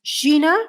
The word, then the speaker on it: Zena: It really is pronounced Gina from the time of the Mayans, but we left it at Zena.